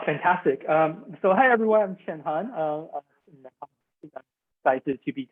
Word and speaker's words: Cheng-Han: from star wars and if you combine their name together jackie chen han solo that middle part you can time that's how you would pronounce my name and i'm very excited